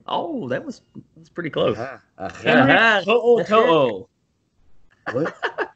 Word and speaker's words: To'o To'o: To'o To'o. What? To'o To'o. To'o To'o. There's no A. How that's pronounced, man. It's like a Hawaiian. Like if you took the apostrophe out, it would be Henry Tutu.